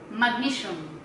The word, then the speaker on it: magnesium: Natatawa ako kasi yung basa niya ng magnesium. Siyempre ako, Filipino ko eh, kaya ano ko is magnesium. naririnig ko sa kanya sabi, mag-museum.